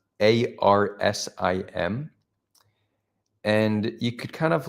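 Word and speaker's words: ערסים: That would be pronounced Arsim.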